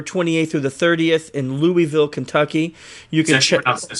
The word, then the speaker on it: Louisville: con is September 28th through the 30th in Louisville Kentucky you can pronounced Louisville Louisville sorry there Louisville okay it's in Louisville